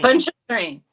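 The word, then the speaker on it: Pontchartrain: why not I told I said think of punch and train but P it's p o n t c h a t r a i n punch ponter train well I mean you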